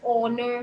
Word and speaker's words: honour: हम लिखते हैं HONOUR, पर हम pronounce क्या कहते हैं उसको? R. If I say HOUR, we'll say it as R. We don't say hour. Right? So if I say Yes. HONOUR, that is honor.